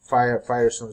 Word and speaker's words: FHIR: at hl7 fire we so fire pronounce fire stands for f fast